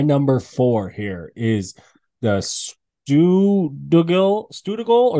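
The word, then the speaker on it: Stuðlagil: My number four here is the Stugal or Stugali Canyon. I think that's pronounced like a D.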